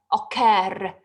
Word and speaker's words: occur: So I'm saying refer, it's stressed. Occur, it's stressed.